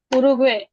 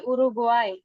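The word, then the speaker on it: Uruguay: হচ্ছে উরুগুয়ে, উরুগুয়ে এটার উচ্চারণ হবে উরুগুয়াই, উরুগুয়াই, উরুগুয়াই, পারাগুয়াই।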